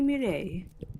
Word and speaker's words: Mireille: Please, call me Mireille. Mireille I guess- or Mire. Mireille? Yeah, roll the R's.